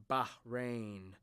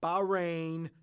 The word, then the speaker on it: Bahrain: right go ahead dab right in bahrain not bahrain not boran not baran not bob saget oh but somebody rain you pronounce the h and now we can